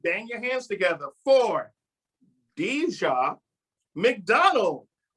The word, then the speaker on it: Dijah: right ready everyone bang your hands together for dja mcdonald thank you that's my name no